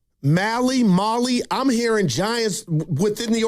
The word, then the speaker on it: Mahle: Yeah, I think it's Mahle, but Mahle. All right. Like rally, pitchers in the alley. You guys are right. What? Great. I told you. Says it rhymes with toddler.